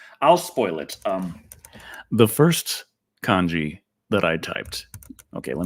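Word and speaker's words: 漢: Second one is pronounced Ji, and the first one is pronounced Kan.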